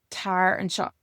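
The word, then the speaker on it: Tar anseo: So in Irish, we have what we call diphthongs, or in other languages as well. And this is where we have vowels that come together just to make one sound. So we see that here, because if you were going to pronounce this as if it was an English word, you'd say an CEO or something like that. But we just get one vowel sound on shop, and then the A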